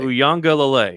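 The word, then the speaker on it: Uiagalelei: I mean, I'm breaking it up syllables just to say it. It's Uwangalale. Uyang Ulale. Uyangalale is what it is.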